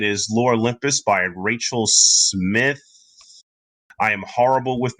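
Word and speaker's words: Smythe: it is very it's smith with an e i don't pronounce the e that's great so i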